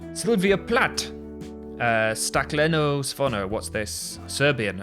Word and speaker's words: Plath: Sylvia Plath's name is German, and I think her father would have pronounced it plot before he emigrated and changed it to the Plath that it became in the States.